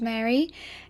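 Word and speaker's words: Maeri: no memories of abuse hello my name is Mary it's spelled m a e r i and I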